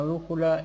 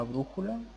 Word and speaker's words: brújula: No, ¿cómo se craftea una brújula? Brújula. ¿Esto es una brújula? Generar brújula. Acá está. Brújula con acento en la U.